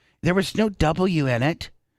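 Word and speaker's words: Nguyen: It was an N and then a G. And I go, Mom. Why? I know. And I go, Mom, that's pronounced Win. And like it's Vietnamese. It's always Vietnamese.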